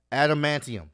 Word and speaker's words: adamantium: don't wolverines i'm doing this live wolverine goddammit adamantium there we go i don't know why his adamantium in his body was still there they didn't